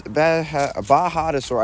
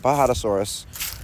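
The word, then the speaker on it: Bajadasaurus: Bajadosaur. I need to start saying it right. Bahadosaurus with 11 days and 1 hour left.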